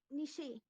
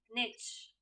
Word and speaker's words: niche: word in american english nishi that is wrong the right pronunciation of the given word in american english would be niche in british it is niche in american it is